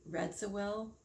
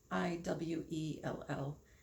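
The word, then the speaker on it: Radziwill: He also, what I really think he is Prince Anthony Redwell, and I probably said his last name wrong. It's Radzwiell.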